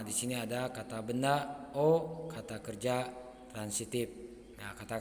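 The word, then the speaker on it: を: sini ada kata benda o kata kerja transitif nah kata kerja transitif itu perlu diketahui minasang kata kerja yang membutuhkan objek ha Nah di sini ada partikel wo Tapi dibacanya O ya ini hiragana wo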